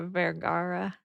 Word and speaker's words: Vergara: Sofia Vergara.